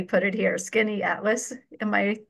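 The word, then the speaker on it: Skaneateles: a place called, well, I just abbreviated it here, Skinny Atlas. And if you saw the spelling, you could see why I just phonetically put it here, Skinny Atlas.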